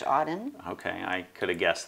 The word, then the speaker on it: Auden: right there yes yes and what wh auden auden is how you pronounce his name yes okay i was waiting